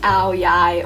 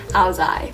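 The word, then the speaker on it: áo dài: It's spelled A-O-D-A-I, and depending where you're from, the north or the south, it's pronounced Ao Yai or Ao Zai.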